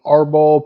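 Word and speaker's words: árbol: Because the way I do the sauce with the garlic and arbol peppers, that's ARBOL. Wife, do you want to pronounce it correctly?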